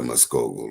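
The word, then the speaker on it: Mvskoke: And you like know the K sound like a G.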